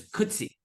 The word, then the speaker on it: Coetzee: gonna you'll see why it's rhymed with could see except that it's a z instead of a c it's like he could C but it's could C you'll never have trouble